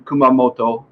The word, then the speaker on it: Kumamoto: after 30 years in kumamoto which is the pronunciation kumamoto uh i've got a lot of japanese friends